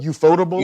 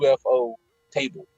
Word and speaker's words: Ufotable: It's Ufotable for some reason, but it's like I always see UFO table, but Ufotable.